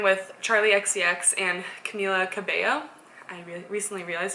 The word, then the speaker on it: Cabello: She's traveling, or performers, whatever you want to call them, traveling with Charli XCX and Camila Cabello. I recently realized it's pronounced Cabello, so cool if you didn't know that.